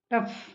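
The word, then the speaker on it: tough: इसके बाद देखा है कि कई जगह जी एच का उच्चारण फ भी किया जाता है। जैसे देखते हैं टफ, टफ में जी एच को फ बोला गया, टी ओ यू जी एच, टफ।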